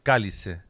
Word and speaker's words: cálice: cáliz, que en portugués se dice cálice. Y cáli se se pronuncia prácticamente igual que la palabra cállese.